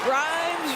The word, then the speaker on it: Grimes: Grimes rhymes with dimes on time right there.